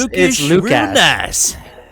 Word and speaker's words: Lukhash: it's Lookish, Lukhash. real nice. it's I Lukhash.